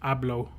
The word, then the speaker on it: hablo: Just for reference, the Hablo or Habla is pronounced Ablo and Abla.